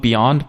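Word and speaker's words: Beond: an airline I think you're supposed to call it Beyond but it's spelled like b e o n d um that are going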